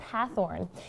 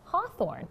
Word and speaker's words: Hathorne: why the different spellings yeah so it's actually pronounced hathorne and back in the olden days the teacher